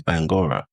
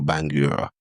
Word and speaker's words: Bangura: So I grew up a lot on, because I was always told my name's Bangura, right? Or Bangura, say it properly.